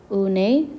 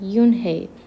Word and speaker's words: Unhei: near here what's your name my girl asked unai the girl asked scrunching up her face chanted no no and corrected it's spelled u-n-h-e-i it's pronounced yoon hey oh it's you hey the boy said like